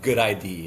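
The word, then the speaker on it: GUDID: like for the US they have the good ID it's spelled G U ID um that stands for global unique device identif ification database.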